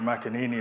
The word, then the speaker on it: McEnany: And finally then, by no means least, we're joined by Padraig McEnany, or McEnany as we pronounce it in Kilkenny, who's founder and CEO of Celtic Pure, Ireland's largest independently owned water company.